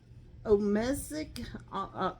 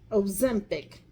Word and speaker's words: Ozempic: And I will tell you, it was Omesic, something like that. I'm sure you know which one. Ozempic.